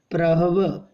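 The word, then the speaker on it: प्रह्व: भक्ति प्रहव महेंद्र प्रहव, ये आधा हा है और पूरा वा है, ठीक है।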